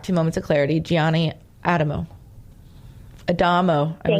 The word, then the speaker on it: Adamo: Trying to, but it's spelled Adamo, but it's Adamo.